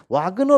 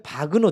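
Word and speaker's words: Wagner: 그 너도 독일 사람입니다 그래서 와그너 라고 되어 있는데 원래 바그너 져 박은호 정확한 발음은 어 다른 교제는 오토 바그너 이렇게 나옵니다 가서 오토 바그너 는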